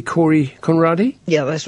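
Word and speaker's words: Kåre: Corey Conradi? Yeah, that's right. Okay, it's spelled K-A-R-E in Sweden for the pronunciation of Corey.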